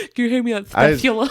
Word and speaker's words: spathula: Can you hear me on spathula? I suspect that's supposed to be pronounced spatula, but it looks like it's supposed to be pronounced spathula with a TH.